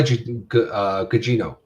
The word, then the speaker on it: Gugino: Carla Gugino.